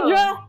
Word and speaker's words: Friedra: Friedra rhymes with Felicia.